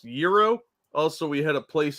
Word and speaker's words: gyro: They said, you're right, it's pronounced Euro.